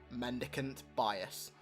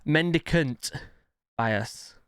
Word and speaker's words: Mendicant Bias: the story of o32 mandicant bias mendicant bias like keep pronouncing it wrong i think there's an